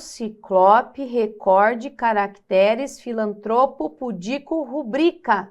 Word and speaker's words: rubrica: recorde caracteres filantropo pudico rubrica não é rubrica proparoxítonas aqui mas a prosória se estuda esse tipo de fenômeno que a gente olha a palavra que é pronunciar rubrica mas é rubrica tá ó isso aqui